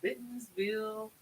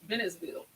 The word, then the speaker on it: Bennettsville: hey Lisa Cruise lover Miller says hello from bittensville South Carolina did I say it right Bennett Bennettsville South Carolina yeah that's where we're uh that's